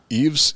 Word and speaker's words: Yves: co-star give his uh eves yves y-v-e-s montan i don't know he's i think he's some brazilian he's just pronounced eve eve montand like saint laurent okay so she [